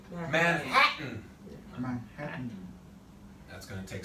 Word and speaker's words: Manhattan: That N is taken over. He is the king. So when I say the sentence, I don't say Manhattan. I don't say Manhattan. I say Manhattan.